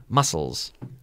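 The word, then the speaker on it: mussels: Muscles. Muscles. And mejillones? The pronunciation is the same.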